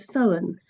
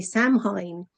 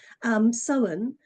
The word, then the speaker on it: Samhain: And I used to say Samhain, and people would Mhm. look at me blankly as if to say, "What are you talking about, Sam?" Samhain.